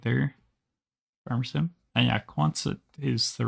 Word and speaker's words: Quonset: And yeah, Quonset is the right pronunciation.